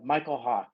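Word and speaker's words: Mykel Hawke: But it's Michael Hawk, and it's spelled MYKELHAWKE.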